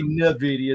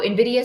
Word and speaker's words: Nvidia: say nid I say Nidia there's no I between it's just n and Nvidia okay Nvidia um so it's